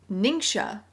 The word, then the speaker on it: NingXia: it please hold okay i have learned it's pronounced ningxia i believe i soon began drinking